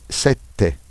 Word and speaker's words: sette: Ensuite puis ensuite deè remarque en italien les doubles consonnes prononce plus fort. Le doppie consonanti si pronunciano più forte. Esemple, sete sette. Swaf set. Sete 7. Pala. Palla pala pala le ballon.